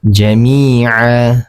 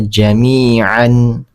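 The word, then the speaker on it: جميعا: Tanwinnya sudah tidak terbaca. Jadi cara membacanya jamia bukan lagi dibaca jamian ya. Jadi jamia seperti itu.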